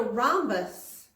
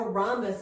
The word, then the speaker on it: rhombus: are you ready for it it's called a rhombus Aramis that each is silent a rhombus and if you think about it I guess